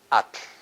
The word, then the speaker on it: atl: Atl. Atl. So atl. Release the air at the sides.